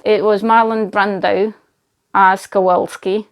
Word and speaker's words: Kowalski: was Marlon Brando ass Kowalski I can't say the name Kowalski ass Kowalski I always say it as kovarsky it's a publisher name